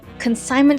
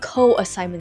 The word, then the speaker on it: consignment: It is consignment store, not co-assignment store.